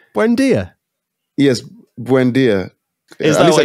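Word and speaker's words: Buendía: Are you talking about Buendia? That's an easy name. Buendia.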